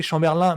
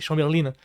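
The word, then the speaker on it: Chamberlain: rich chambberlin je pas j'ai toujours prononcé Chamberlin mais à ce qui par l'accent faut le prononcer il faut il faudrait le prononcé chambberline et B c'est simplement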